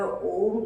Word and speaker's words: ओम: ओम, ओम में म को थोड़ा सा लंबा रखें, क्योंकि ये मस्तिष्क को शांत जल्दी करता है।